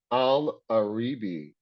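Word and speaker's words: Al-Areebi: descent aliyah's name is here's how you say it al aribi it's spelled n-h-o-o-p-h is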